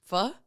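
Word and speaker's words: phở: Vietnamese food yeah um so it looks like Fox but it's pronounced f and they'll have all the puns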